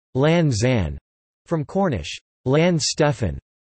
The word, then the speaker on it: Launceston: Launceston is still pronounced Lanzan, from Cornish Lanstefan, with emphasis on the first element.